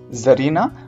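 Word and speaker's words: czarina: Landlord, landlady, milkman, मिल्कमैड, जार, जरीना। बेटा ध्यान रखिएगा, यहाँ पर सी जो है वो साइलेंट रहता है।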